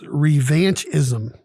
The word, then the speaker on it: revanchism: of the day is revanchism or revanchist okay both have three syllables r e v a